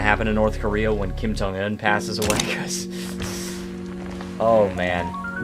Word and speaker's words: Kim Jong-un: Kim Jong-un, that's how you say his name.